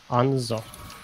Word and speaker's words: Hanzo: His name, how do you pronounce it? What name? The Japanese guy with the bow, what's his name? Hanzo.